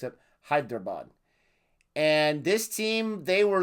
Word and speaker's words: Hyderabad: my video on srh i killed hyderabad quite a few times pronounced pronouncing that name oh i hope i'm saying it correctly this time i think last time i kept saying hi bear dad i got the b and the d mixed up hyderabad and this